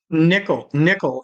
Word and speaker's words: Nicholl: Nickel. It's an Irish German thing. Nicholl. So it's pronounced like a coin, but it's spelled different.